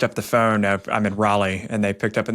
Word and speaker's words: Raleigh: up in the phone and pronounced it Rayleigh. I was like, that's kind of a dead giveaway. We got to pronounce the name right, and I feel like Raleigh's a pretty well-known city, so let's get that one right.